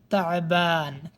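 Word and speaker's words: تعبان: মাসা আল খাইর শুভ সন্ধ্যা পরের শব্দ হচ্ছে তাবান ক্লান্ত এটা তা আইন বা আলিফ নুন তাবান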